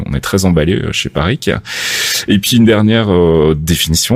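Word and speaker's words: Parrique: Parikh, c'est comme ça que ça se prononce.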